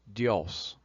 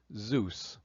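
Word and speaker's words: Διός: And the name spelled delta iota amocron sigma in Greek is definitely pronounced dios.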